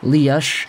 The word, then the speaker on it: Lias: And by the way, if you're wondering, I'm not saying Lias or Lias. I've been saying Lias this entire time because that's kind of how the Swedes pronounce it, to my understanding at least.